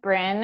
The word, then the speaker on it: Bryn: yeah so um yeah my my name is brynn it's pronounced sprin sorry i didn't um say that